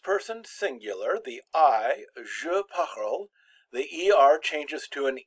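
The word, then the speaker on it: parles: parle with an es now they're pronounced exactly the same je parle tu parle the infinitive was pronounced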